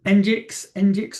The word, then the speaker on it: Nginx: So Nginx, I'm told it's pronounced, Apache, Cloudflare Server.